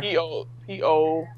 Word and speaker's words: Poeltl: Poeltl, I want to say. There's actually no R in it, even though you pronounce the R. Poeltl.